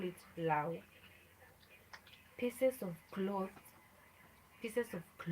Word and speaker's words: law: Here, it is written as L A. It is written as L-A-W. So in Luo, we pronounce it the way it is. We say Lao, Lao, Lao, Lao.